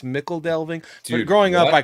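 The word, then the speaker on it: Michel Delving: I used to call it Michael Delving. It's Mickle Delving, and then someone said Mitchell Delving, but I still think it's Mickle Delving.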